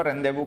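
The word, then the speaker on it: rendezvous: रेंदेवू होता है ना मीटिंग पॉइंट, मीटिंग होती है, मीटिंग पॉइंट होता है, उसको रेंदेवू कहा जाता है, फ्रेंच वर्ड है।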